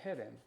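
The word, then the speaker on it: חרם: 헤렘. 히브리어 발음으로는. 근데 이제 이거 쓸 때 영어로 CHE 이렇게 써가면서 체로 발음을 해갖고 체렘이 된 거예요.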